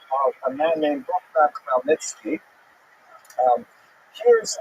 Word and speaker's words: Khmelnytsky: So this is just the way it's written in Polish, and if you understand Polish phonetics, you'll know that it's pronounced Khmelnytsky, which is also not